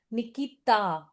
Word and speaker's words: Nikita: sharp sounds like t, d. You will not listen that. Nikita. It will be Nikita.